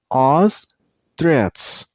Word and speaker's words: ostrich: But while you pronounce the second syllable, you should make a T sound at the end. Ostrich.